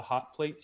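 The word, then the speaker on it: Hawt Plates: But if you want to hear music and see some work by my family and me, we are called The Hot Plates, spelled with an HAWTPLATES.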